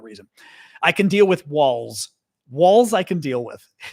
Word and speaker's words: Walz: I can deal with walls walls I can deal with so um yes walls we were pronounce those the same way solak walls as in the wall of your house and walls as in